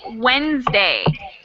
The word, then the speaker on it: Wednesday: um your word is wednesday wednesday then monday tuesday wednesday yes but you're missing a silent letter there's a silent letter in this word and it's incredibly annoying